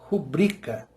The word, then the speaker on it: rubrica: Porque rubrica é o mesmo princípio da palavra recorde. Ela não é proparoxítona, ela é paroxítona. A tônica está em bri, rubrica.